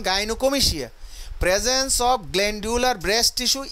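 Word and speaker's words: gynecomastia: তো যা হোক, গাইনোকোমিশিয়া, এখানে গাইনোকোমিশিয়া কিন্তু গাইনোকমাস্টিয়া না, এটা উচ্চারণ গাইনোকোমিশিয়া।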